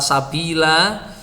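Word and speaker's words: سَبِيلَا: Nah, ini ada bacaan lagi kata sabila. Ya, ini kalau berhenti diwakafkan itu juga dibaca panjang. Ini tadi kita baca lanjut dibaca pendek. Nah, ini juga kalau dibaca lanjut itu juga menjadi pendek.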